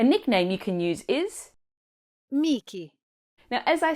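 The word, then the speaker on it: Michele: Perhaps because I'm biased because it is Mik. A nickname you can use is Miki.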